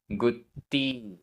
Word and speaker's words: गुत्ति: गाथा क्रमांक 96 उच्चारण गुत्ति आधा त पूरा गुत्ति गुत्ति समधि समधि धम्मो आधा